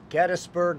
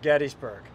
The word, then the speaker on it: Gettysburg: Gettysburg versus Gettysburg. Kris and Kris properly pronounce the name Gettysburg. The guys, and we're eviscerated for it. Oh my God, you're going to just get destroyed. I say it wrong because I like the way Gettysburg sounds, but Gettysburg is correct.